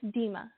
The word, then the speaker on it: Dema: you pronounce your name it's dima just like tina well in the beginning